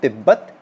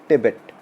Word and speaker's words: Tibet: giant red from tibbett we call in hindi tibbat but in english we pronounce tibet okay tibet from a